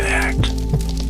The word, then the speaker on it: ACT: Acceptance and commitment therapy or ACT pronounced as the word ACT represents another therapeutic approach that incorporates mindfulness principles developed by psychologist Steven Hayes.